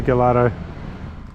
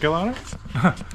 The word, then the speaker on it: Gallardo: Is that Gallardo? Oh yeah, look, oh, it's a Gallardo manifold, yeah. Wrecked a few Gallardos, have you? Yeah. How do you actually pronounce it? Is it Gallardo? Gallardo. Gallardo.